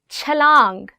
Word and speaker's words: چھلانگ: Chalang. Again in this word, it's ch.